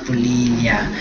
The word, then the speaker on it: polilla: polilla, hay muchas personas, creo que la mayoría de personas en español lo suelen decir polilla, o sea, la doble L lo pronuncian como si fuera una Y, esta Y de acá, la que estoy escribiendo, sí, la pronuncian así, la doble L, polilla, pero...